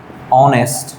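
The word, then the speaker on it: honest: কিন্তু যখন আমরা বলবো আওয়ার, অনেস্ট, ঠিক আছে, এই টাইপসে যখন বলবো, যেমন এটা আওয়ার, এটা আ উচ্চারণ হয়েছে, এটা অনেস্ট, এটা অ উচ্চারিত হয়েছে।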